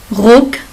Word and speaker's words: Rock: Il se prononce Ecke. Rock, c'est la jupe.